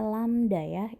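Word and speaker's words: lambda: merah itu adalah lambang dari lamda bacanya lam Dayah itu lambang lamda lamda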